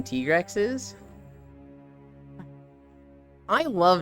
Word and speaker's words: Tigrex: I just realized how unoriginal the name Tigrex is. I love names like that, Kisu. Now that you told us how it's actually pronounced. It's Tiger and T-Rex.